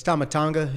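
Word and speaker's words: Tama Tonga: It's Tomatonga, if you want to pronounce it correctly.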